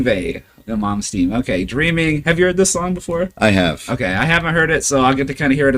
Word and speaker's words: Yngwie Malmsteen: Yngwie Malmsteen. Yngwie the Mom's Team.